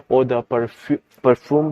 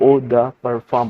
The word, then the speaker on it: eau de parfum: इसको कुछ लोग ओ द परफ्यूम भी पढ़ते हैं, बट ये प्रोनाउंसिएशन इसकी गलत है क्योंकि ये फ्रेंच लैंग्वेज है, इंग्लिश नहीं, तो इसकी प्रोनाउंसिएशन कुछ डिफरेंट होती है, तो इसको ओ द परफॉर्म पढ़ते हैं।